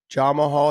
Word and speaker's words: Jamahal: Dave George George Harris John Mahal Hill is the way that day prod says his name it's not Jamal Hill it's Jamal Jamal you're